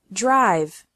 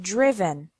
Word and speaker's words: driven: risen write wrote written notice that the sound of the I changes from the present to the past participle the present is drive and the past participle is not driv but driven subgroup three verbs ending